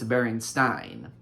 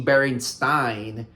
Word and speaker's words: Berenstain: So a lot of people just assumed it was stain when in reality it was Stein.